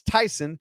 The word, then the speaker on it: Tyson: It's Tyson, like Kade Tyson or Tyson Chicken or Mike Tyson.